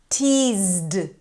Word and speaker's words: teased: kissed picked helped teased This is a d sound after a z.